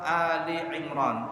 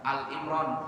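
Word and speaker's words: آل عمران: Allah Subhanahu wa taala berfirman dalam surah Ali Imran. Nah, bacanya Ali ya, bukan Al Imran. Orang banyak salah baca surah Al Imran katanya. Bukan Al Imran tapi Ali. Pakai hamzah, jangan pakai ain.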